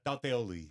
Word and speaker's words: Tauteoli: Uh, Tioli. Taoli. Yes. It's like an e in there. Tioli.